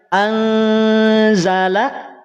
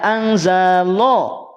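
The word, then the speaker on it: أنزل: Maka perhatikan cara pengucapannya. Anzala, Anzala, tidak anzalo. Awas, tidak anzalo, tapi anzala, anzala, la, la, terhampar lidah kita. Tidak naik, tidak terangkat karena dia tipis.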